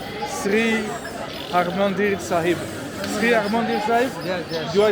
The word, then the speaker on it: Sri Harmandir Sahib: Sri Harmandir Sahib?